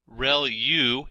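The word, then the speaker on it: ReLU: are multiple hidden layers like convolu ution layer real U is how that is pronounced and that's the rectified linear unit that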